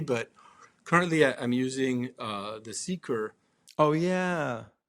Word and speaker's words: CeQur: It's more a transition maybe, but currently I'm using the CeQur. Oh yeah. Did I pronounce that correctly? CeQur? It's the CeQur. CeQur, there you go.